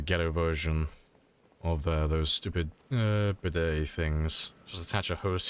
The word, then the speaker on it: bidet: Not a bidget, it's a bidet.